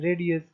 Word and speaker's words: RADIUS: dial in user service which is pronounced as radius in short the authentication